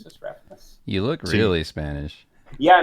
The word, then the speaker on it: Refenes: It's Tommy Refenes. Refenes. Yeah, it's the whitest way possible to pronounce it.